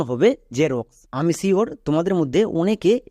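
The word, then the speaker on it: Xerox: এক্স উচ্চারণ হবে না এক্স এর জন্য বর্গীয় জ উচ্চারণ হবে কেন দেখো এক্স এর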